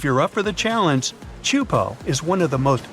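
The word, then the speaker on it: Teahupoʻo: Chupo in Tahiti also has some of the heaviest waves in the world, breaking over a shallow reef and creating intense barrel rides.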